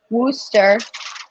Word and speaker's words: Worcester: true they they actually the city worcester wooster in uh wooster in but in massachusetts is pronounced rooster that